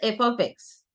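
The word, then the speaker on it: f(x): Yes, Manthan, it is pronounced as f of x. Okay. You can call it fx also, but f of x is the normal way to say it.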